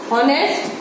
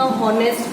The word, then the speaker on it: honest: हमें H तो बोलना ही नहीं. H is silent.